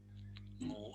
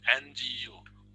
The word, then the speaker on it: Ngu: Ngu is steal. Ngu a. Remember NGU. Ngu. That's the sound you find it difficult to pronounce.